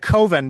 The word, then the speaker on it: Coven: coven um uh coven because coven rhymes with oven and he didn't like that.